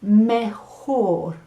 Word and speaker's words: mejor: funny word it's spelled m-e-j-o-r and it's pronounced mehor okay so it rhymes with lahore a big city in pakistan i don't know no